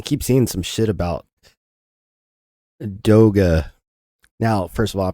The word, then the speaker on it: DOGE: Therefore, you say the Department of Government Efficiency implies that the acronym should be also pronounced Do-Ga. And yet, everybody in the mainstream media, everybody in the government is referring to it by an incorrect pronunciation.